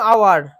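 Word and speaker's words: hour: C arrive dash আওয়ার late, দেখো এই যে আওয়ার, এটা আওয়ার, তাহলে কি হলো, এন হলো। কেন, এইচ কনসোনেন্ট থাকা সত্ত্বেও উচ্চারণটা যেহেতু ভাওয়েলের মতো।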